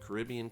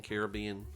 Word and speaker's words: Caribbean: Caribbean Beach Caribbean Beach I don't know how you pronounce it Caribbean Caribbean you choose we stayed at Pop